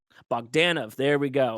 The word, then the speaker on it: Bogdanov: writer and artist John boganov did I pronounce that correctly the accent's on them on the a so it's bogdanov bogdanov there we go it's